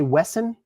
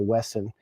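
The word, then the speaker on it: WESN: W-E-S-N? You just say Wesson? Is that how you pronounce it? I'm telling you, I've had my eye on Wesson for a long time.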